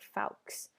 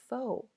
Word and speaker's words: faux: So, notice this looks like fals. Unless you're French, you probably pronounce it that way. It's actually a word that English borrowed from French, so it's pronounced foe.